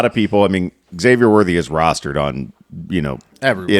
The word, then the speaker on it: Xavier: Not to be that guy, but it's Xavier.